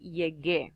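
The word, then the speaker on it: llegué: have Y a gear and that U is not pronounced the only time that you pronounce this you it would be if it have two little dots on top of it it doesn't have that so we're just gonna say yeah gear that you is silent him so yo ya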